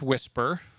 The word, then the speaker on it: WSPR: a as a beacon it's pronounced whisper written by Joe Taylor